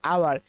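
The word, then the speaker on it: hour: প্রথমে, তবুও কিন্তু আমাদের ভাওয়াল সাউন্ড আসতেছে, অর্থাৎ আওয়ার। এই এইচটা আমাদের কি উচ্চারণ হচ্ছে না, এটা উজ্জ্বল থাকতেছে, এই কারণে এর পরিবর্তে অ্যান বসবে।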